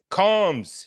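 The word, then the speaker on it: Comz: Comms.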